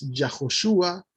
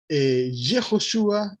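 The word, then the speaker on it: יהושע: Y esto gramaticalmente, hermanos, en el hebreo nunca va al principio de un nombre. Por eso no es Yahoshua, por eso no es Yaudá, sino que es Yehoshua y Yehudá.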